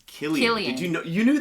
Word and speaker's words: Cillian: And so I was like, Cillian? Cillian Murphy, right? Yeah. It's Killian.